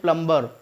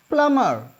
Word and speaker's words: plumber: हम यूज़ करते हैं प्लम्बर. That is नॉट प्लम्बर. हम लिखते हैं उसे प्लम्बर, PLUMBER, but pronounce प्लम्बर नहीं करना चाहिए, प्लमर.